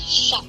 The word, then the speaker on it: chat: Last is silent. Yes. Sha.